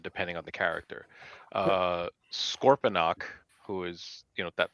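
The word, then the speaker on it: Scorponok: Sometimes it sounds like Scorpionox. Yep. With an X at the end.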